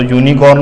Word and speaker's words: unicorn: उसके बाद में यूनिकॉर्न, तो यूनिकॉर्न में यू आ रहा है, यू हालांकि दिखता वोवेल है बट उच्चारण जो है कॉन्सोनेंट का है, तो यहाँ आ गया ए.